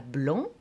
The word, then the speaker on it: blanc: Je dirais par exemple, le chat blanc mange la souris. Je répète, le chat blanc mange la souris. On ne prononce pas le T, on ne prononce pas le C, etc., etc.